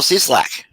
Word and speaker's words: Cieslak: in Florida uh I'm hope I'm pronouncing your last name correct C slack is that right yep spot on all right very good